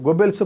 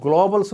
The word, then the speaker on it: గోబెల్స్: తెలుగు భాషే రాదు వాడికి ఆ గోబెల్స్ ప్రచారాన్ని పట్టుకొని గ్లోబల్స్ ప్రచారం అంటారు టిడిపి లో ఇప్పటికి కూడా